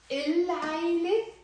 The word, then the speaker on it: العيلة: So منقول العيلة. It's a moon letter. Remember, all of these are moon letters. So we have to pronounce the lam.